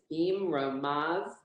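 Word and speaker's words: במרומיו: So that yud is silent because it doesn't have a vowel under it, okay? So we're not going to say it. And this, so line 6 again is beam romav, shalom, beam romav.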